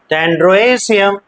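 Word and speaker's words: androecium: एंड्रोशियम E stands for ए ई को ए की तरह उच्चारण करते हैं ना एंड्रोएशियम एंड गाइनोएशियम पढ़ेंगे गाइनोसियम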